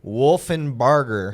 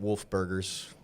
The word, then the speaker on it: Wolfinbarger: Wolfinbarger. That's right. Make sure I said it right. It's a good one. Not Wolf Burgers.